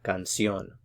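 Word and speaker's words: canción: as I mentioned before if a word ends in a vowel enter an S it's the second to the last syllable so this one should be stressed but because we have the accent mark here on this diphthong we put the stress on the last one so it's gone soon a little bit more emphasis on that last syllable cancion okay now let's practice a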